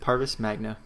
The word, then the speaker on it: Parvis Magna: I know I butchered that. Parvis Magna.